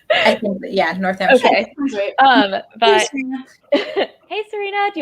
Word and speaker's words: Northamptonshire: I don't know how things are pronounced. I think, yeah, Northamptonshire.